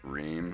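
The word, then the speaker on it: Рим: Yeah, it's actually how Rome in Russian is pronounced. Rim.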